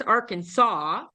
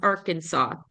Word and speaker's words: Arkansas: Louisville okay we've got Arkansas which also has an interesting pronunciation it looks like Aransas but it's Arkansas okay which is not the same as Kansas Kansas is pronounced Kansas